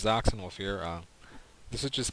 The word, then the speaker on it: Xoxinwulf: even mean uh yeah it's pronounced Z wolf not coxen wolf like some people think it is the X's are sound sound like Z's and Z wolf is